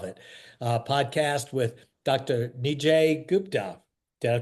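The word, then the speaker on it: Nijay Gupta: Nij Gupta. Did I pronounce that right?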